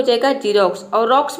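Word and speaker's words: Xerox: Next rule है rule number 2 है, यदि किसी वर्ड के शुरू में यदि एक्स हो तो वहाँ पे एक्स को आपको ज प्रोनाउंस करना है।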